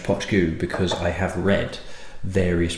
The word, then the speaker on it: Poit Dhubh: now I know that this is this is pronounced potagooo because i have read various website saying this